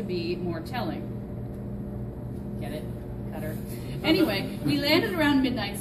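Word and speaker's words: Qatar: scarves as long as I ignore the correct pronunciation which would turn out to be more telling get it cutter anyway we landed around midnight so my new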